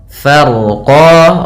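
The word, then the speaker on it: فرقا: Farqo. Ronya tebal. Farqo. Farqo. Yaitu fa. Kemudian rnya dibaca dengan tebal karena huruf ro yang dia sukun sebelumnya fathah. Kemudian pada lafal qan ini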